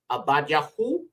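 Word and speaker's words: עבדיהו: one is Obadiah okay in the iari it would be pronounced yaho now abide means servant okay so what does his name mean servant of yah okay Abad yaho servant of yah okay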